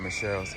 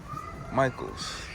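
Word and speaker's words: Michaels: video, see what's in Michelle's. Excuse me, is it pronounced Michelle's? The store? Michael's. Michael's.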